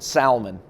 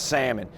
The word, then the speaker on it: salmon: wouldn't care about if he pronounces it salman instead of salmon now it might be